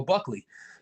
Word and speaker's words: Buckley: So I've been saying let's go Bucko for a long time. I guess I've been saying it wrong. I should have been saying let's go Buckley.